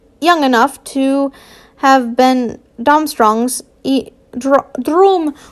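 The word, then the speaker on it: Durmstrang: the two looked young enough to have been domstrong's room thrombstrongs is how you say it whatever he he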